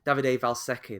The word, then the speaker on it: Davide Valsecchi: Davide Valsecchi.